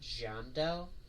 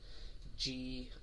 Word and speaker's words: Giandel: one brand called, again, I don't know how to pronounce it. I pronounce it Giandel, Giandel.